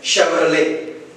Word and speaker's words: Chevrolet: It's an American word, Chevrolet. The letter T is silent here.